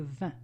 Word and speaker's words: vin: The wine, le vin. If you remember, you learned it when you learned how to say the word 20, which sounds exactly the same.